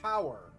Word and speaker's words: hour: Why is H-O-U-R not pronounced hour? Right? That's probably similar kind of... Because in French, H-E-U-R, the H is silent.